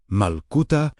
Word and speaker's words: Malkuta: Because Malkuta, pronounced Malkuta, meaning the living divine reign, describes an active reality rather than a distant destination.